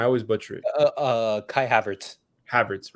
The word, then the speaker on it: Havertz: Whereas Havertz, how does they pronounce his name? I always butcher it. Kai Havertz. Havertz, right?